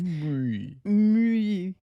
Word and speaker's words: Muy: of muy no it's me that's how you pronounce it because it's french okay anyway so my